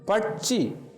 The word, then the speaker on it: பட்சி: பட்சி சிஹெச், முயற்சி சிஹெச் இவ்வாறு ஒலிக்கிறது.